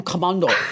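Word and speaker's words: Komando: Well, Kim Commando is my name. And and that's the way you pronounce it. Kim I mean, Commando. right? I mean, that's Mondo. Kim Commando.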